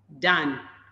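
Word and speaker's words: Dunne: And it's Patrick Dan. I am told that's how it's pronounced.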